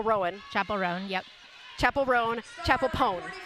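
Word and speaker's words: Chappell Roan: pone it's Chapel pone I was saying Chapelle but I know her name like chapel chapel Rowan Chapel Ron yep chapel rone chapel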